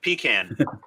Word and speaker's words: pecan: um I'm sorry Andy uh how do you pronounce the nut pecan pecan or pop can it's pecan it's it's it's like peeing in a can